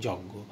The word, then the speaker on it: যজ্ঞ: একইভাবে যখন বর্গীয় জয়ের সাথে যুক্ত থাকে তখন তার উচ্চারণ গ চন্দ্রবিন্দু হয় অথবা গ চন্দ্রবিন্দু হয়। খেয়াল করো জ্ঞান এবং যজ্ঞ, তোমাকে এই দুইটা বিষয়টি